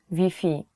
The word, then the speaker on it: Wi-Fi: spelling is the same you have to change wi-fi to vp so if you're looking